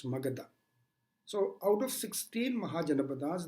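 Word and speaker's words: Magadha: jana pata was Megara normally we called Margit the pronunciation is Magatha so out of sixteen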